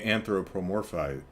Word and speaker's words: anthropomorphize: now if i'm a anthropomorphized anthropomorphized anthropomorphic shoot what is the word hang on dictionary help me out here anthropo more where's the other form size anthropomorphize okay so there's no extra syllable if i may anthropomorphize